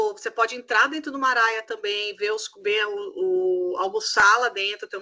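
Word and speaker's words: Maraya: de eventos, que é o Mariah, como a cantora, essa é a pronúncia mesmo, pra vocês não esquecerem.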